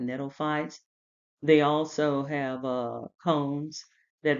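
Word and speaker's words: gnetophytes: This G is silent, netophytes.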